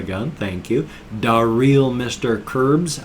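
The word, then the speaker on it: Crbs: Curbs, I would imagine it's supposed to be like crabs, but it's spelled C-R-B-S, so Curbs.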